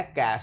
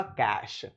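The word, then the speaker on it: cache: sorry कैश word है ये word है कैश इसका उच्चारण होगा कैश कैश मतलब होता है हेडिंग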